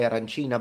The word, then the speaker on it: arancina: the rice bowl, that in Palermo we say arancina, but in the rest of Sicily they say arancino. So for us it's female, for them it's male, feminine, masculine, I mean, and it's actually a big thing.